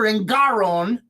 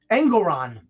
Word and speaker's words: Engoron: Mar-a-Lago after Judge Arthur Engoron, this guy reminds me, I guess it rhymes with Sauron, Engoron, very similar in intent also. Valued the Florida estate at $18 million, says Engoron, right?